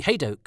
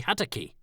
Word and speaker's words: Hadoke: by the fact that Toby hadoke had been replaced in the closing Announcement by some Joker by the name of Toby hadaki so I wrote a polite email pointing out that they had pronounced my name wrong and the producer replied